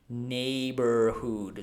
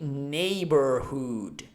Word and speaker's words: neighborhood: So we just pronounce it neighborhood. So what do you notice? GH sound are the GH sound is muted, so I don't have to pronounce it, and this O is followed by the R sound.